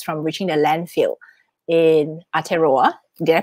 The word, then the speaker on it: Aotearoa: And then you helped prevent 2.2 million tampons and pads from reaching the landfill in Aotearoa. Did I pronounce it correctly? Aotearoa, yeah, you're on it.